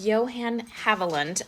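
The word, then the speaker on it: Johann Haviland: this pattern which is so so pretty it's Johan havland a viewer told me I was mispronouncing it which I appreciate it is such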